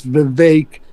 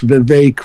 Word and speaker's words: Vivek: It's Vivek. It rhymes with cake. We should get the name of our opponents correctly, as opposed to not calling them correctly. It's Vivek, rhymes with cake.